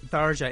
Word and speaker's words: Tharja: And as the character Tharja, right? Is that how you say it? Yes. Tharja.